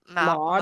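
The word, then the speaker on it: Maude: How do you pronounce her name? Maud.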